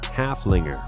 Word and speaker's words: Haflinger: Haflinger with a name that rhymes with Gunslinger halfling reserved just as